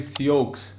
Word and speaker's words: Sioux: Sioux se escreve Sioux, mas pronuncia Sioux.